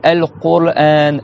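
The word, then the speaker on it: القرآن: Et pareil, al-Qur'an, al-Qur'an. Dites al-Qur'an. Qur, t'as le ra après.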